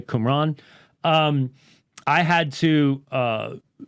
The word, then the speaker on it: Qumran: the book of discipline from from qumran that's how it's pronounced by the way qumran um I had to